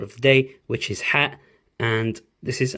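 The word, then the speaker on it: ح: It is a sharp H coming out of your vocal cords.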